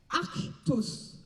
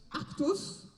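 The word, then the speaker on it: ἄρκτος: et cette ours d'ailleurs on le prononce on le disait en grec arctos arctos l'ours que ce soit masculin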